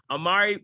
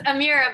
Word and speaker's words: Amira: am honored and privileged to have our guest amari bakir did that did i pronounce that right close amira bakir amira vakir sorry my apologies my apologies